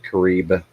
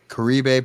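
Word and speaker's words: caribe: are those james uh crebe c-a-r-i-b-e i've also heard it pronounced karib karibe piranhas so they're vicious vicious fish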